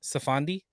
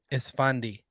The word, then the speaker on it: Esfandi: If you just go IMDb him, how do you pronounce his Iman Safandi? Esfandi.